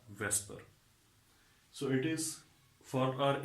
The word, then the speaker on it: VSEPR: And this acronym VSEPR, it is pronounced as the Vesper.